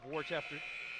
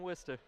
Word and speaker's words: Worcester: guard Hill out of Worchester Massachusetts Hill we started also have the transfer grant gills don't enter don't pronounce it like that in Worcester grant gills a junior